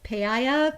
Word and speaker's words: paella: uh pay it how do you say it paella paella anyway uh and the other things too